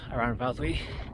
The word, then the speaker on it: Aran Fawddwy: i'll follow that ridge towards the summit of around valtteri that's how you say it i've done a